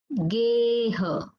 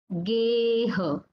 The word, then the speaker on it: geha: So here you can observe the pronunciation of A is long. It is a bit stretched.